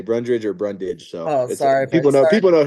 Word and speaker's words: Brundage: to fight me I think I said your name wrong by the way up top did I say brundridge Brundage I think I it up